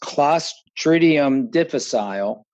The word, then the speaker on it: Clostridium difficile: There's a long name for it, and it's actually pronounced Clostridium difficile, but I've been informed by today's guest that no longer is the name.